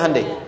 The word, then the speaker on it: Hyundai: Sehingga ketika di sana bikin Honda, sini Hande Hyundai kan dibacanya Hande ya kan?